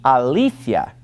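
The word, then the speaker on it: ἀλήθεια: truth he said II Alethea and the accent was on that middle Etta sound ilithyia Alethea when it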